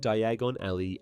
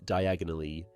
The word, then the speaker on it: Diagon Alley: In the film adaptation, due to mispronouncing Diagon Alley as Diagonally, he mistakenly arrives at Nocturne Alley.